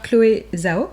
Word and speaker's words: Chloé Zhao: Le film est réalisé par Chloé Zhao. Ouais. Ça se prononce comme ça.